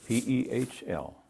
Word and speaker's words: Pehl: Pehl, P-E-H-L. And pronounced Pehl.